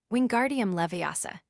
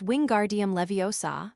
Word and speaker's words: Wingardium Leviosa: Wingardium levasa, he shouted, waving his long arms like a windmill. You're saying it wrong, Harry heard Hermione snap. It's<unk> wingardium leviosa. Make the guard nice and long.